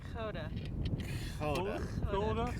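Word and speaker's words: Gouda: correct way to make guda and that's all she how do you pronounce it in Holland Koda kod and and and I love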